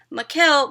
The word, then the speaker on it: Mikkel: her middle name, and she said that it's Mikkel because she was named after some rock star that her dad liked, Mikkel somebody, but I could be wrong.